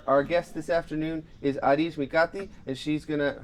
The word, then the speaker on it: Arij Mikati: JP sax our Our Guest this afternoon is adish mikati and she's going to how was the pronunciation did I it up